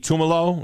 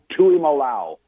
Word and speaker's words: Tuimalau: This kid for Ohio State, what is it, JT Tumalo? Is that how you say it? Or? Wow. Tuimalau.